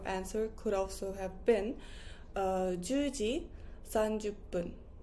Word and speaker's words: 分: So you could also say, or your answer could also have been 10時30分. 10時30分. With P because it finishes with 0.